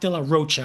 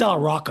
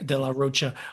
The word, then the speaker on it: de la Rocha: A lot of the topics that Zach Dear Roachcha, I don't think it's Delar Rocka. I think it's Dear Roachcha, the way he the way he pronounces it, Chris. Okay. De la Rocha.